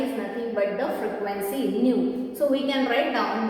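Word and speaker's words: ν: This is the symbol, Greek symbol, that is known as nu. It is pronounced as nu. Okay, so nu, that is frequency, is equal to the reciprocal of the time period.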